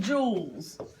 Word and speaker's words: joules: Or in joules. And it sounds like diamonds and rubies, but it's spelled different.